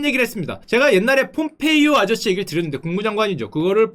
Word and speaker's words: 폼페이오: 제가 옛날에 폼페이오 아저씨 얘기를 드렸는데 국무장관이죠. 그거를 폼페이라고 했다가 그 많이 혼났어요. 폼페이는 도시 이름이고 그 아저씨 이름은 폼페이오다.